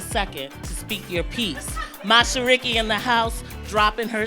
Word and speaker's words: Mashariki: My name is Mashariki, pronounced Mashariki, or Mashariki. Mashariki.